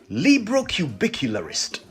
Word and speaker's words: librocubicularist: word is quite a mouthful are you ready librocubicularist l-i-b-r-o-c-u-b-i-c-u-l-a-r-i-s-t librocubicularist a syllable word now i wonder whether you can